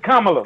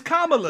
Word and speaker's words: Kamala: But look how a fake Indian name got everybody pronouncing it like it's African. Kamala. No, it's Kamala. It's Kamala.